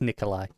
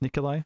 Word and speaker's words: Nikolaj: waldo i think it's nikolai is this nikolai okay i think it's like a silent j slash almost like an eye i don't know all